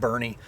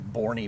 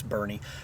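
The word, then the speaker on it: Burnet: It's called Bernie. Uh kind of looks like Borie, but yeah, it's Bernie.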